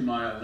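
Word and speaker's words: Mighell: Later, Doc and his wife added what they called the 2 mile inn, he being 1 mile and his wife 1 mile. It was spelled M-I-G-H-E-L-L, but pronounced Mile.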